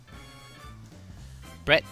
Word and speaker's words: Bret: ] week this is I think I pronounced the first name wrong no that's how you pronounce his name Brett McKenzie for me I mean no I